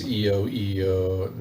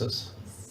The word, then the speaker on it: Isaias: I think it's EIEIOSS. Is that it? The hurricane will come tomorrow. Yeah, is it called EIEIOSS? Isaias.